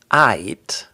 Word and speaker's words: aight: So we don't pronounce the L. Instead of saying all right, you get aight. It sounds really just like you're saying aight. So really hold that Y sound.